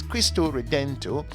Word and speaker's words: Cristo Redentor: straight into it christ the redeemer which is pronounced in portuguese as crystal redento is a colossal status of jesus christ at